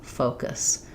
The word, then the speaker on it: focus: use a lot, and many people will see this letter U and say more of an oo sound, or they won't be long enough in that O vowel or round enough in that vowel, and then if the two vowels sound too similar, the word will be incorrect, and it may sound